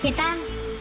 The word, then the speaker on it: Титан: Тайтана этого, Тайтан Моргенштерн. Не, надо ударение, короче, в другое место ставить. Так, Титан, во, Титан Моргенштерн пусть будет, Титан Моргенштерн, который украл мою эту, блин, лак этот для ногтей синий.